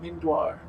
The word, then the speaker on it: Mindoir: I don't like that Pro tip uh it's pronounced mindoir mind the only reason I know is because